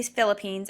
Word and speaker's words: Philippines: the Philippines um this is how you say Philippines and then this is how you would talk